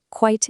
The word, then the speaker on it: quite: Quite is your adverb. It means to a degree, and it's just one syllable. Quite.